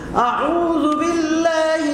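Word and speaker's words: أعوذ بالله: হচ্ছে না তাই না আউজুবিল্লাহি মিনাশ শাইতানির রাজিম আউজুবিল্লাহি মিনাশ শাইতানির রাজিম আউ আউ প্রথম হলো হামজা তারপর কি আইন আউ আমরা অনেকে আউ করি দুইটা হামজা বললে হবে না আউজুবিল্লাহি আউজুবিল্লাহি মিনাশ শাইতানির রাজিম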